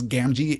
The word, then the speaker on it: Gamgee: to the repetition of the letter G here in Sam's name. One hard, one soft. That makes a lot of sense. Gamgee is the accepted pronunciation for Sam's last name.